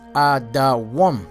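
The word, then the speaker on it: אדום: All right, the name Edom is Adawam.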